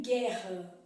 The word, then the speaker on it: guerra: então é o que acontece por exemplo em guerra o é bu não falo guerra né então